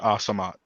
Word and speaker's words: Al-Samad: It's a AH sound, not AL. Oh, So good to know. Khadija Assamite.